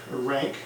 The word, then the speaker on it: Ranke: of the Reformation by Leopold von Runk ranked depending on your pronunciation written in the 1840s